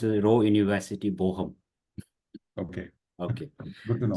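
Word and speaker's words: Bochum: floor is yours you can yeah you can pronounce Ro University boham okay okay good to know so all right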